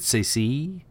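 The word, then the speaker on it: Saesee: How do you say Master Tin's first name? Because it's spelled like S-A-E-S-E. Is it Sacy? I've always said Say, or yeah, Sacy.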